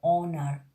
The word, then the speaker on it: honor: Now let me tell you first which is the silent H, like honor, honest, hour, hair, H-E-I-R, hair. This kind of words, H is silent.